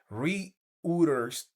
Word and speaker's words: Reuters: Reuters, que así se pronuncia, reportó el 2 de abril de 2026